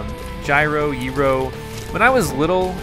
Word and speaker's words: gyro: what to call them gyro Euro when I was little and I first tried one it was carefully explained to me that they were called Euros they're pronounced euros and uh so since